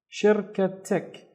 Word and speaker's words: شركتك: So the first syllable would be shir, shir. The second syllable would be ka. And the third syllable is tik, tik. شركتك هذه شركتك هذه شركتك, which means is this your company?